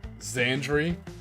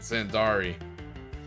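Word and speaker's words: Zandri: ever corrected me uh but yeah it's actually xandre xandre for years I've been pronouncing it xandari it's xandre I looking I like they changed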